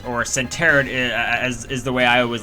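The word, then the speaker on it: Sentret: is a level 2 Centret, or Centeret is the way I always like to call it. I always pronounce Centret as Centeret. I don't know why, I just didn't know the proper pronunciation.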